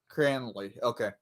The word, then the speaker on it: Cranley: Doc with the shot and a save by, how do you pronounce his last name? Cranley? Will Cranley. Cranley. Okay.